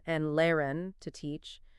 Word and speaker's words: lehren: The silent H follows a pattern, often appearing after the vowels E and A. Words like fahren, to drive, pronounced fahren, and lehren, to teach, pronounced lehren, exemplify this.